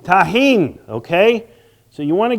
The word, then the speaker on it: Tajín: Next, how do you pronounce this? Tajín. Tajín, okay?